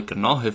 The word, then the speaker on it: Gnáthamh: So that is why Gnáthamh starts off with a gra sound.